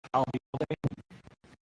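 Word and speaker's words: Albayalde: If you remember the phrase, I'll be here all day and drop the here, I'll be all day, you got it.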